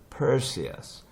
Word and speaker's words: Perseus: 이 친구는 영어로는 여기에 스트레스가 와가지고 pearl 이렇게 R을 이렇게 집어넣어야 돼요. Perseus 이렇게 있습니다. 페르세우스가 아니고.